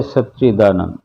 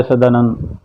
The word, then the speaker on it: सच्चिदानंद: हुए उसी को उसी तरह से बोलना, जय सच्चिदानंद। हम ऐसे बोलते जय सदानंद, जय सन, जय सच्चिदानंद, जय सच्चिदानंद, यानी शुद्ध वाणी में।